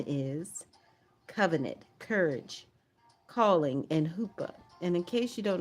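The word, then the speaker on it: chuppah: And the theme is covenant, courage, calling, and hoopa. And in case you don't know what the hoopa is, it is spelled c hu p a h.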